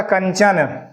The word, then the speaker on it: कंचन: अंगा आधा हो गया ये देखिए आपका कंचन का उच्चारण हो रहा है क से अगला वर्ण कौन सा है च है च वर्ग का पांचवा आधा हो जाएगा कन और चन कंचन पुरानी बुक में आपको